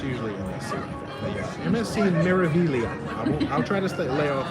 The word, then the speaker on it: Meraviglia: Meraviglia in Port Canaveral. You don't really pronounce the G that hard, right? It's just You Meraviglia.